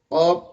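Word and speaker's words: قاف: যেমন আওয়াজ হয় ঠিক কফ হরফটি উচ্চারণের সময় ওরকম আওয়াজ হবে এবং কফ হরফটি জিহ্বার গোড়া থেকে উচ্চারণ হবে। কেমন যেন ক এরকম আওয়াজ মনে হবে।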